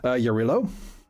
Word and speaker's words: Yarilo: Does- Yarila, actually. Hmm? The O is has a sound, according to the pronunciation guide. I think that is more of an unvoiced vowel.